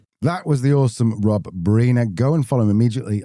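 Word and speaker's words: Briner: Just if you are going LinkedIn, it's pronounced Bina, but spelled B R I N E R.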